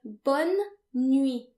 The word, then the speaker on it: bonne nuit: To wish someone good night, say bonne nuit. Bonne nuit. And remember, the final T is silent because in French, most final consonants are silent.